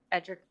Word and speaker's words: Edric: absolutely agreed with edric edric is it a long e or a short e this is a long long e it's laundry drink okay